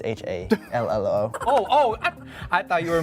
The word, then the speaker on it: hallo: It's H-A-L-L-O.